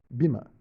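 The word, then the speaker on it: Böhme: ele vai estar em, vou pronunciar o nome, B-O com trema H-M-E, Bima.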